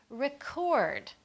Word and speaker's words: record: is going to be record notice that we stressed the second part of the word now this happens with